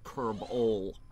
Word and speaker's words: Kerbol: That does not include Jewel, Kerbin, or the Sun, which is pronounced Kerbol. It's just Kerbal, but instead of an A, it has an O.